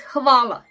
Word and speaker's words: hvala: It is lion in English, and it is actually pronounced the same like L in lion. Okay, then we have H. H. It is hvala.